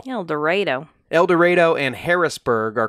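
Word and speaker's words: Eldorado: dorado but i am assured that it is pronounced el dorado el dorado el dorado and harrisburg are called little egypt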